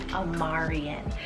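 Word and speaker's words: Amarian: a name like aryan is amarion spell a-m-a-r-i-a-n omarion this one's super cool it's greek rooted meaning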